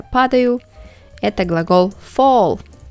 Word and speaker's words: fall: Это глагол fall. И читается как долгий звук О в середине. Fall.